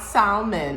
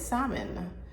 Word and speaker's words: salmon: I'm like it's not salmon it's salmon the L is silent so anyway I've identified